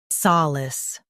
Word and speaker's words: solace: US says sa, UK says sol. Focus on lis, solace.